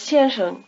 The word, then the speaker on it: 先生: The second syllable of 先生 begins with the same consonant as 是 and 谁, which you make with the tongue curled back. Try repeating Mr. 先生，先生，先生。 Your tongue has to shift gears, so to speak, between the two syllables.